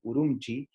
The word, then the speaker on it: Ürümqi: y luego tenemos a ürümqi que se pronuncia así por un chi que es la capital